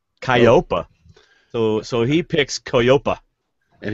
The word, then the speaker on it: Koyopa: so so he picks koyopa and he pronounces it okay yeah kyopa no it's e-o-y-o-p-a I don't know why